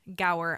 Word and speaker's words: Gower: guest on today and his name is Brian Gower I hope I did not completely like just